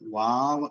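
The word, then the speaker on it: Waw: ഇംഗ്ലീഷിലാണെങ്കിൽ W ആണ് അതിന്റെ ഉച്ചാരണമായിട്ട് വരുന്നത്. വാവ് എന്നാണ്.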